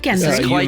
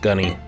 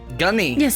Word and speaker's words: Gunny: you've outdone yourself here not gend pronounced you mispronounced gunny gunny you go by a